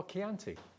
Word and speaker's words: Chianti: So it's like, oh, Chianti. Okay. So it's like the wine.